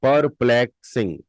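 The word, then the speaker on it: perplexing: audio book में एंड the next word is परप्लेक्सिंग पर पलेक सिंग परप्लेक्सिंग स्पेलिंग इ पी ई आर पी एल ई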